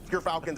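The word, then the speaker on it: Gyrfalcon's: I got my Gerfalcons on. We actually, off screen, we're figuring out how it's pronounced. But Gerfalcons, everyone, so anyone who mispronounces it, that's how you say it.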